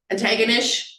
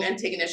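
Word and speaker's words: Antigonish: When I traveled to Nova Scotia this past spring, someone said, don't forget, Antagonish rhymes with bucket of fish. So if you wanna know how to say that, like the long Antagonish, it's bucket of fish.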